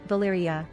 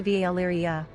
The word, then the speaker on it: Valyria: According to the TV series official pronunciation guide developed for the cast and crew, Valyria is pronounced /Valyria, as opposed to Valyria.